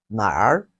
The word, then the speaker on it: 哪儿: Where in Chinese, we say it has two pronunciations. The first one is nåli and nar.